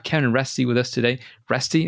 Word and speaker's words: Reste: Reste, is that the way to pronounce it? Yep. You're one of the few people to get it right the first time.